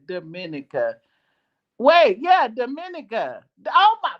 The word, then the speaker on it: Dominica: Oh, Dominica. Dominica. I thought that's what I said. What did I say? Oh, Dominica.